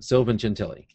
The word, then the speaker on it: Sylvan Gentili: Sylvan Gentili.